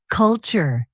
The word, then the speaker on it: culture: Culture. Stress the first syllable. Cool, tour.